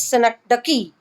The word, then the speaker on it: synecdoche: interact with the person right so the correct pronunciation of this world is synecdoche right what is it this is a package